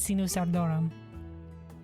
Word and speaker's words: Sinus Ardorum: We looked up how to pronounce it. It is Senos Sardorum.